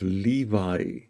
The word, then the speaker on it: Levi: called the tribe of Levi but um a more accurate pronunciation is uh most probably lewe lewe the w the VAV is more a w a w sound and not a v sound and it's a t